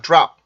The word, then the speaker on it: drop: 그래서 요 단어는 드롭이 아니고요. drop 이라고 발음을 해주셔야 돼요. 소리 이렇게 꺾어주듯이 발음을 해주시면 됩니다.